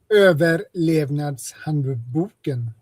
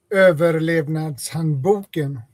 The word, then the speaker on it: Överlevnadshandboken: Did I pronounce it anywhere close to right? Överlevnadshandboken. Oh, Jesus Christ. Oh, my God. Overlevnadshandboken.